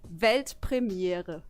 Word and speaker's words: Weltpremiere: It's actually Weltpremiere.